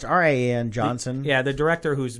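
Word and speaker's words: Rian: Ryan how do you say I think it's rien yeah it's Rin Johnson yeah the director who's making episode 8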